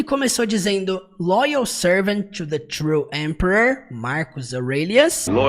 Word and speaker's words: Aurelius: Aurelias, não, Aurélios, tá? Aurelias. Aurelias.